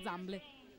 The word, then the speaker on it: Zamble: il numero 17 Zamble, di cui mi hanno confermato la pronuncia, per cui ripeto esattamente quello che mi hanno detto, si chiama Zamble. Perfetto, e allora mette fine,